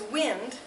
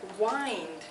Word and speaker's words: wind: wind so interesting yes as a noun it is wind as a verb it is wind like you do with a clock an oldfashioned clock or a watch yeah